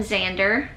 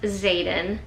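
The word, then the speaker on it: Xaden: of the video I'm calling him Xander his name is Zaden so I do apologize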